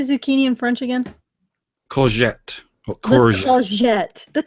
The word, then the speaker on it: courgette: Courgette. Or Let's courgette. courgette. That doesn't even work. Courgette. Mike, You can say it with the R. Courgette. If you courgette. Courgette.